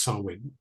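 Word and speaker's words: Samhain: on on November the 1st as well called sawin right so it looks like Sam ha but it's pronounced sawin and that seems to be a very very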